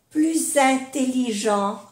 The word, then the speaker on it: plus intelligent: Entonces sí que se hace la unión, la liaison, y se pronuncia la S pero como una Z. Plus intelligent, plus intelligent.